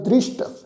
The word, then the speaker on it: दृष्ट: ब्रह्म ज्ञानी कै दृष्ट समान, ये शब्द है जी दृष्ट, सस्से दे पैर च विधि लगा के पाठ उच्चारण करांगे दृष्ट।